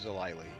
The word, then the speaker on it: Zile: Actually, uh, we changed my name this week. So, it's Zile. Oh, it's Zilly. Okay. With a long I happened to be the same spelling really.